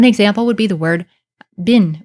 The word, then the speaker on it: bin: So one example would be the word bin, is how we pronounce it now in modern times, which means something that is bad or evil.